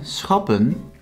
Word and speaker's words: schappen: Then schappen consists out of two syllables, schap, pun. Here the syllable does end with a consonant and not a vowel, so it's pronounced short.